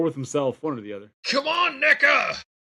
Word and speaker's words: NECA: COME ON, NECA. NECA, PLEASE. WHOA. You better pronounce that a little harder next time. That sounded real bad at first. That's a hard C.